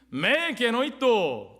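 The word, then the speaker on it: μὴ γένοιτο: 메 게노이토 따라해 보십시오.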